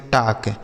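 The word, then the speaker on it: talk: अगला शब्द है बच्चों टी ए एल के। इसे पढ़ते हैं टॉक।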